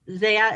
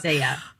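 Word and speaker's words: ZE:A: turned actor because he's from the idol group Zia. And I don't think I'm pronouncing that right. Yeah. So, we actually got into this cuz MC1 is from Za as well.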